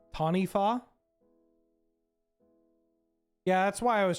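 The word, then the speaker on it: Taniwha: But Taniwa is pronounced Tanifa. Oh, it's from Maori folklore, and the wa is an F?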